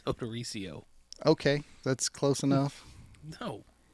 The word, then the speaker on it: Odorizio: How do you pronounce her last name? It's Odorizio.